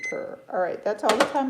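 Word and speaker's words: Puer: P-U-E-R. P-U-E-R. I'm assuming you pronounce it per.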